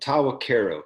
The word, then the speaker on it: Tahwahkaro: Next up is Jason Jackson, and I'm going to say this Tahwahkaro whiskey. Is that how you say it? Am I correct? How close? I got it. Okay. You got it. Yeah. Good. All right. Yep. We say it pretty similar, but Tahwahkaro, kind of like Karo syrup.